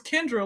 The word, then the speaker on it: Kyndra: get my name right I'm like bro it's Kendra like come on now no even substitute teachers ever pronounced my name wrong bro come on you